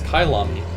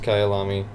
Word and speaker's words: Kyalami: it is I'm just when the Wikipedia page yes pronounced Kayal ami okay meaning my home